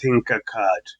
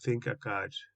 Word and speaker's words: Tinkercad: online which was created by autodesk it's called thinker card and it's spelled t i n k e r c